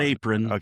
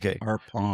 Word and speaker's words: Arpon: Arpon. Not apron. Arpon.